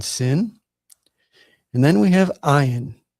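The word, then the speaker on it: ע: Now in it says here is silent and generally speaking that's the way it uh is pronounced today. But they believe that in previous times it it had a guttural sound kind of like a g sound.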